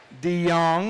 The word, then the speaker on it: De Jong: Did I pronounce that right? Is it De Jong? De Jong, that was my mistake.